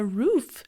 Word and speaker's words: roof: Quando fala roof, de tela, faz um pouquinho do da beijo. Roof. É rough, é mais relaxada, mais alongada a boca. Rough, roof.